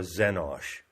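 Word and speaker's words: xenos: so X stands for zenos and it's spelled x c n o s so the letter X is pronounced as a z it is of course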